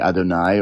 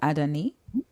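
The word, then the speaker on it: אדני: Oh, well, if you don't have the vowels, it could be Adonai or Adoni. Oh, it can be pronounced Adoni.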